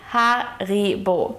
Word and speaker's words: Haribo: So the next time you're enjoying some Haribo gummies, remember to pronounce it Haribo.